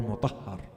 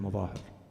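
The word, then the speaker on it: Mazahir: name of Habib ibn Mudahir. There are versions to his name that are a little different from the popular version. Habib is accepted, but some say his name is Habib ibn Mudahir or Mutahhar.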